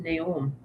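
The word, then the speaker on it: Neu-Ulm: It was pronounced Naom.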